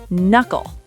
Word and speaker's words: knuckle: First word, knuckle. Okay. K N at the start, so the K is silent.